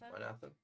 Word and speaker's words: Manatha: you and speak with Mintha? Is that how you pronounce her name again? Manatha? Minatha. Manatha? Yeah.